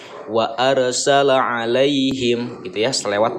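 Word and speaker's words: عليهم: Lai ini adalah ya'lin juga ya, huruf lin. Nah, karena ini terjadinya di tengah-tengah kalimat, maka ini dibacanya lembut, lunak, dan dibacanya pendek, tidak boleh dibaca panjang karena bukan madlin.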